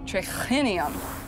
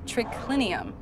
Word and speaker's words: triclinium: H in it so it would be pronounced triclinium instead of tricked lynnium a latin speaker from italy would have never written would have never said it that way they would have just said triclinium Martha and the person